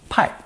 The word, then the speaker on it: 派: Pronounced fourth tone, 派, pai.